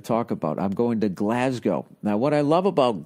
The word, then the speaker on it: Glasgow: when I finally went I thought it was Glasgow so I wasn't saying it right then I went there and I heard how they said it Glasgow all of a sudden